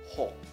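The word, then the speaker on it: หก: Jadi dibacanya gimana? Dibacanya ho. Ho. Ho. Jangan dipanjangin ya. Nadanya apa? Siang e.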